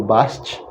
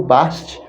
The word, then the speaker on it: Bastet: provavelmente silenciosos então Adeus é frequentemente referida como Basti ou best as reconstruções cota por sua vez mostra no primeiro Milênio da era comum seu nome poderia ter sido pronunciado como o Basti ou o basquete é provável e possível que todas essas pronúncias possam ter sido usadas em vários pontos os linguistas sabem que